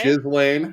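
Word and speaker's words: Ghislaine: Correct pronunciation by the way. Jizzlane.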